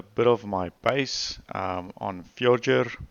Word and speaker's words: Fjordur: of my base on future or forger or however you prefer to call it I will call it future that makes sense to me but it might as well be the wrong pronunciation so I've settled here